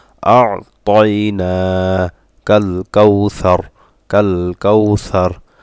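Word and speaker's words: أَعْطَيْنَا: ইন্না আতাইনা কাল কাউসার কাল কাউসার ইন্না আতাইনা, এখানে আইনটা একটু চাপ দিতে হবে, আতাইনা অনেকের এই উচ্চারণটা হয় না, আতাইনা কাল কাউসার কাল কাউসার।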